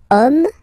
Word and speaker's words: homme: And then here we've got the word homme, man, okay? But then it starts with H, as in French, H is not pronounced, so the first sound that we hear is O, okay?